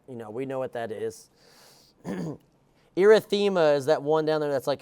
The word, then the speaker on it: erythema: Erythema is that one down there that's like a pinkish color behind it. It's pronounced erythema.